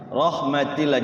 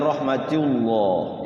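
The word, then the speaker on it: رحمتِ الله: Rahmatillah, jangan rahmatullah ya. Kalau rahmatullah nanti dia tebal. Rahmatillah tipis.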